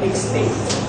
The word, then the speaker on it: extinct: Yes, it is known as, yes, it's known as extinct. Everyone pronounce extinct? Extinct. Okay, you should pronounce the last syllable.